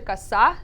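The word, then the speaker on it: коса: So, kosa. So this one's actually kasa, and Kasa.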